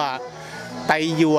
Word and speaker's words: ไทยวน: ไท ยวน นะ ครับ ไทย ญวน อ่าน ว่า ไต ยวน นะ ครับ หรือ ว่า